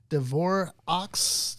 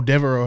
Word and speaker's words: Devereaux: Devorah's House? Oh, Devereaux House.